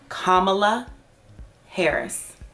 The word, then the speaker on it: Kamala Harris: so joe biden finally announced his running mate kamala harris kamala harris is how you say her name um and